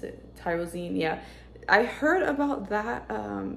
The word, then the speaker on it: L-tyrosine: It has immunity and prebiotic complex, mood enhancer matrix, L-tyrosine, I believe is how you pronounce it. Tyrosine, yeah.